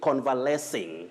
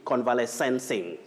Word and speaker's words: convalescing: have the progressive form you say convalescing so and so is convalescing at the hospital you don't say convalescencing we have convalescence which